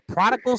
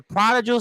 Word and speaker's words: prodigal: I butchered it last I calling him the prodal son but it's the prodigal son so I'll have to